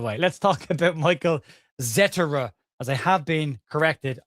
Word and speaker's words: Zetterer: Let's talk about Michael Zetera as I have been corrected on his pronunciation.